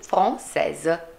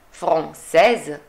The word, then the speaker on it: française: Quindi, française. Qual è la differenza tra français, française? Che nella pronuncia dovrò fare al femminile la S. Sentite? Français, française.